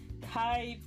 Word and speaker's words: Kai: Oh, before I forget, my name is pronounced Kai period.